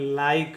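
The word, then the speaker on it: like: उच्चारण करेंगे क ठीक है और का कोई उच्चारण नहीं होगा इसको पढ़ेंगे लाइक इसको पढ़ेंगे लाइक ठीक है अबने देखिए सी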